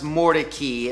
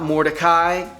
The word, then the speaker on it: Mordecai: So before you jump on me in the comments, it is pronounced Mordecai. It's named after a man who settled in the area, not Mordecai, Mordecai. I can't change it. I'm sorry, that's the way it is.